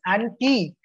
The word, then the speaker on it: antique: when you're pronouncing something you need to emphasize on the syllables as well one is antic and the other is antique both of them are different one antique is old-fashioned and the other antique a-n-t-i-c is